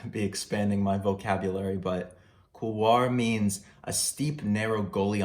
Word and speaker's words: Couloir: Couloir. I think Couloir is how you say it.